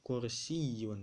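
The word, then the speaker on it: كُرْسِيٌّ: baca yang berbentuk kue dibacanya kursiyyun Dedek bukan kursi kursi bukan itu bahasa Indonesia kode bahasa Arabnya ada tas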